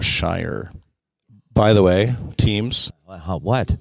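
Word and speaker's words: Scheyer: most recently John shayer I may be pronouncing his last name correctly s-c-h-e-y-e-r shayer or Shire by the way teams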